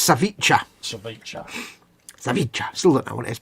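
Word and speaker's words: ceviche: we go uh Edward Leonard confirms it's pronounced saviche so look that one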